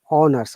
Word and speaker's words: honors: Starts with H, but in this sound, H is silent, so we use or pronounce only O, honors, okay?